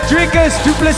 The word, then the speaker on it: du Plessis: F and I said learn the name it's D duple the S is silent and I told you